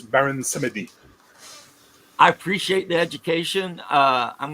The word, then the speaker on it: Samedi: Samedi. okay, Baron Samedi. And that's if you're saying it like Creole, right? If you're saying it in pure French, it'd be Baron Samedi.